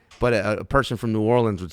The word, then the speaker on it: New Orleans: New Orleans is how you say it. That's how you say it. But a New Orleanian will say New Orleans. Yeah. It's like a dip, New Orleans.